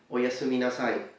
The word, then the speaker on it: oyasumi nasai: Now please note that the U in Japanese is a very closed sound, closer perhaps to German or French, so you have this U sound, okay? So you say su, su, su.